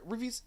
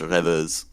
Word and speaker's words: Revus: Reviews. Could you please just tell me how to pronounce your name? It's bugging me. It's pronounced Revus. Reviews. Is that like French? It's French. Yeah.